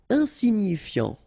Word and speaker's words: insignifiant: Insignifiant. Okay, final T not pronounced, so you get this I-A-N, yan, so F before, fiant. Insigni, okay, remember, G-N-I, ni, ni, insignifiant.